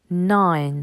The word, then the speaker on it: nine: 9, nine. Encore une fois, le I est suivi d'une consonne et d'un E. Il se prononce donc I.